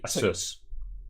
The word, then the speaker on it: ASUS: ace asus e c apparently it's pronounced the same way that pegasus would be so it should be asus asas a sus it's